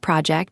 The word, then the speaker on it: project: Now project. When it is a noun, as in a work project, stress the first syllable, project. The related verb can shift the stress, but today we need the noun.